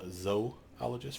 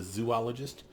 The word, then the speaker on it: zoologist: just are declared by the way that is pronounced zoologist for those of you that don't know and it's a pet peeve of mine do not call it a zoologist they don't study zoos they studies those those